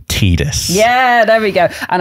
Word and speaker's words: Tidus: It is officially pronounced Tidus.